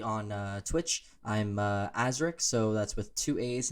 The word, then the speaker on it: Aazriik: have a personality on uh twitch i'm uh azrik so that's with two a's and two eyes it's spelled a-a-z-r-i-i-k the only reason i bring that